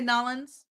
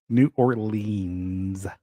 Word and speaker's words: New Orleans: I'm not from there I'm not gonna say nollins Nala um New Orleans um but that is how they say it Cajun Creole I don't